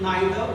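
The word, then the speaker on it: neither: पढ़ते हैं, या नाइदर, इसको भी हम नाइदर और नीदर दोनों पढ़ते हैं।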